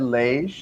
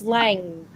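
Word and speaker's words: Lange: how you pronounce it ted lage no it's not i'm just thinking how they said it no it's lang okay i was like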